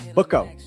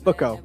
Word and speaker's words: Booko: Americans always butcher it. So, it's Booko. Booko.